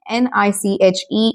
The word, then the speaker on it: niche: It is spelled as n i h e n i c h e and it is pronounced as niche.